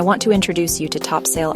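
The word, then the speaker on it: Topsail: to introduce you to Topsale Island. Pronounced topsel.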